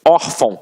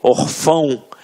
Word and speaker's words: órfão: Até mesmo porque se fosse um acento, a gente não ia falar órfão. A gente ia falar o quê? Orfão. E não é o caso. Então aqui, reparem que a sílaba tônica está na penúltima sílaba.